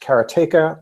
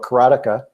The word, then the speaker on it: Karateka: Well, I'm going to go back about as far to the home karate 2D fighter, which is either pronounced karateka or karateka, depending who you ask.